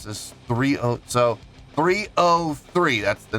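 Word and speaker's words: 3OH!3: such as pronounce this 303. That's the name. That's how the band is pronounced, but it's spelled 3OH exclamation point 3.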